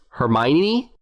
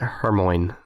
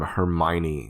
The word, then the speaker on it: Hermione: the movies came out if everyone pronounced it hermoine i think they did i remember hearing something about that and then the movie said everybody straight but something about the name hermione sounds it strikes me